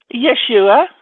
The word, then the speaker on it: Yeshua: you say Yeshua how do you say it Yeshua uhhuh uh let me know a coup that's